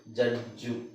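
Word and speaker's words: judge: ಇಲ್ನೋಡಿ ಉದಾಹರಣೆಗೆ ನಾನು ಕಾಮನ್ ಆಗಿ ನಾವು ಯೂಸ್ ಮಾಡೋದು ಜಡ್ಜ್ ನಾವು ಇದನ್ನ ಹೆಂಗೆ ಹೇಳ್ತೀವಿ ಜಡ್ಜ್ ಜ ಈತ ಜಡ್ಜ್ ಜಡ್ಜ್ ಅಂದ್ರೆ ನ್ಯಾಯಾಧೀಶ ಜಡ್ಜ್ ಈ ಅವಶ್ಯಕತೆನೇ ಇಲ್ಲ ನಾವು ಬರಿ ಜಡ್ಜ್ ಅಂದ್ರೆ ಸಾಕು ಜಡ್ಜ್ ಹಾಗೆ ಇಲ್ಲಿ ಇನ್ನೊಂದು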